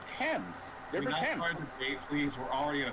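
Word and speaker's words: Thames: It's ths actually. No, it's the river temps. No, the river ths. Oh my god. No, it's pronounced tames.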